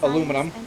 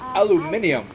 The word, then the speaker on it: aluminum: I was running a bit low on uh aluminum. And it is pronounced aluminum institute of learning. I know the Brits like to say, "Oh, it's aluminium."